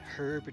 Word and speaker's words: herb: faster than expected okay it's herb not herb yeah that is a regional difference like either either are